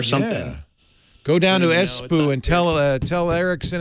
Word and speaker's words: Espoo: voice app or something yeah go down to espoo and tell uh tell erickson and nokia and all those guys espo it's funny whenever you say that it's pronounced espo oh thank you i've been saying